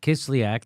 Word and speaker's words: Kislyak: Sergei Kislyak. Kislyak.